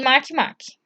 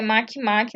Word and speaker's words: Makemake: E Makemake. A pronúncia é Makemake, não Makemake. Então, no caso aí, nós temos planetas anões e também plutóides.